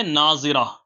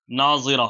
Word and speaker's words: ناظرہ: کو بھی رکھ سکتے ہیں۔ اگلا نام ہے ناظرہ، نون، الف، ضاد، را اور ہا۔ ناظرہ، آپ اس کی اسپیلنگ اسکرین پر دیکھ سکتے ہیں۔ اس کے